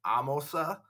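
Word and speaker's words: Ahmose: And the rebellion is led by this guy, Amos. Sometimes you hear his name pronounced Amosa. But, you know, Amos, Amosa, same person.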